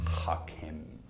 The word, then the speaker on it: Hackam: eat outside the house listen dr. Hackham it's pronounced knock him oh I'm sorry doctor